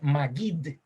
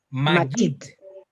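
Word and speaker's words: מגיד: La palabra predicador, por cierto, en hebreo se dice magid. Magid. Así se dice la palabra predicación en hebreo. Magid. Otra vez. No, con G, con G. Magid.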